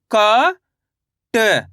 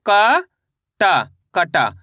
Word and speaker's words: कट: ऐसे नहीं पढ़ना आपको क टा कटा, तो ये गलत हो जाएगा।